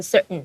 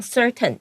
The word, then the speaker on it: certain: 然后你可以注意老师的发音是 certain，它那个 t 的声音会有点吞进去。